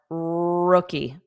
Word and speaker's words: rookie: So cookie, but replace C with R, rookie.